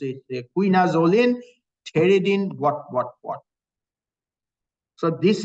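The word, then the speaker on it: pterin: has a Terin ring that's the way you pronounce t does not pronounce it starts with t Terin ring even though it has a silent P Terin ring is this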